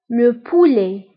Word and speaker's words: le poulet: دجاج هو le poulet, le poulet. فانتبهوا بالنسبة لو بولي كنكتبوها بالت في آخر الكلمة ولكن لا تنطق.